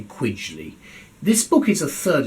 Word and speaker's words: Quigley: Connor quidgley Queen's Council I think he pronounced it quigly not quckly but I'm going to I'm going to say quidley this book is a